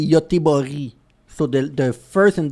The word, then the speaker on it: Göteborg: Although the last G is not the same pronunciation as the first G that we just said it. Yeah. In front of a Because it does He doesn't say Goteborg. You say Goteborg.